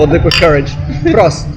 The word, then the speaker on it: Prost: Prost. Prost. That's how you say it in German, right? Yeah, Prost.